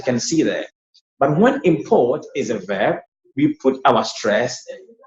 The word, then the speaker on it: import: He imports, you see, he imports rice. The rice he imports are called imports, okay? Imports, first syllable high. Imports. Look at the verb. Import.